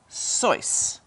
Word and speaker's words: Seuss: The correct pronunciation of Dr. Seuss's name is Sois.